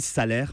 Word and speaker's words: Salers: le célèbre village de salers on dit alors là attention un petit conseil ont dit salaires parce que si vous voulez faire couleur locale le s ne se prononcent pas alors évidemment le salaire